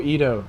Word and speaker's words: Edo: good I like keto everyone argues about how to pronounce it I just stick with what I think is right it's e-d-o so it's Edo to me awesome look I missed